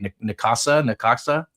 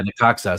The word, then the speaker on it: Necaxa: he's at, I can never say it right, Necaxa. Yeah, Necaxa.